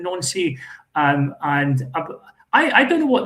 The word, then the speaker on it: Nancy: So is he playing mind games with a certain Wilfred Nancy, who's pronounced the same as the town Nancy?